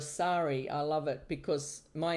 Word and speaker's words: Sari: I um I had some people mispronounce my name and it's cute if they call me Siri instead of Sorry.